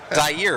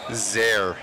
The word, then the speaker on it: Zaire: What is it? Zaire? Zaire, right? No. That's not it? How do you say it? Zaire.